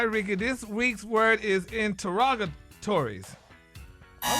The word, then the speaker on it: interrogatories: but it's You don't pronounce all of them, though. Yeah, interrogatories. It's interrogatories, right?